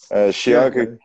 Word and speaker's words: Chianca: É assim que pronuncia mesmo? Scianca? Scianca.